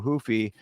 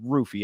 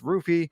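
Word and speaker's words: Ruffy: me this is Mauricio hoofy versus King Green it's actually Mauricio rufy I keep doing the the the uh Portuguese pronunciation but he pronounces it with the r and it's not even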